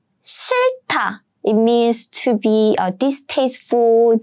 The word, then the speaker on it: 싫다: 싫다, 싫다. It means to be distasteful, disgusting. Basically, you don't like something. So, 싫다. Again, I'm pronouncing the 받침 on the left side, the first 받침.